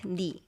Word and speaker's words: 너의: 너의 and 너의 shortens to 내. And then we pronounce it like 네.